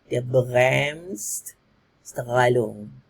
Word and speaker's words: Bremsstrahlung: So kalau nak sebut dalam pronunciation Jerman dia Bremsstrahlung.